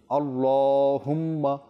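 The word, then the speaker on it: الله: পাতলা করে আল্লাহুম্মা তো আল্লাহ শব্দ এটার আপনার যে লাম রয়েছে এখানে যেহেতু খাড়া জবর থাকে আল্লাহ শব্দটাকে সবসময় একটু পুর করে মোটা করে পাঠ করতে হয়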